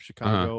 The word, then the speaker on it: Chicago: everyone always says, everyone always normally typically will say Chicago, but if you actually are a a resident of Chicago or you're from the area, people who live there, they actually pronounce it Chicago.